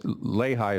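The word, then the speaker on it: Leahigh: Lehi. It's Lehi is the correct pronunciation, right? That's correct.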